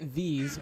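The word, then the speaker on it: Vis: And you get Vs, or V, I think it's actually pronounced V with no S sound, but you get V by killing enemies with your wand and your hotbar.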